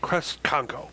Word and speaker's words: Kresconko: Kresconko.